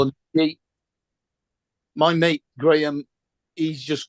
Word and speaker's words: Graham: not biscuits Graham Graham no no they would pronounce a grayham Graham Graham it's the name it's Gram Gram yeah it's a a normal Christian name